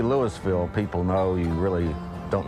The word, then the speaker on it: Louisville: Well, how do you pronounce Louisville? Is it Louisville or is it Louisville? I think I say Louisville. Of course, I'm from Western Kentucky.